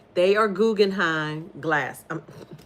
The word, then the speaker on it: Guggenheim: I was I was looking I was like let me make sure I pronounce it right. They are Guggenheim glass not glasses scissors.